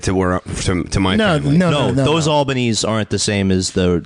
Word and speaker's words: Albanese: so far, Except it's pronounced Albanese. Yeah, could be. Yeah, it could be. Oh, it's really pronounced Albanese. Is really how it's supposed to be pronounced.